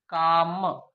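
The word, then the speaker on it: calm: द एल यहाँ पर silent, silent रहती है, यहाँ पे का है, का, काम, काम पढ़ेंगे, काम मतलब होता है शांत।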